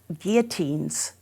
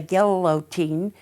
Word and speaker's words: guillotine: that he instituted guillotines it has two l's for those people in the midwest who say galilotine when you have two l's you pronounce as a y not that it's a big deal i'm just saying as you talk to your friends it's guillotine he put them all over